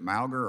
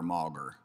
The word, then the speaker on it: Mogger: say your name sir is it mauger or mauger it's mogger congressman thank you all right